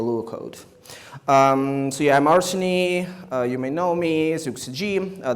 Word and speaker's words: Arseny: So yeah, I'm Arseny. You may know me, ZuxG. This is how you pronounce it.